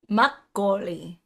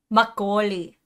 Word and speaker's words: makgeolli: Makgeolli. Makgeolli.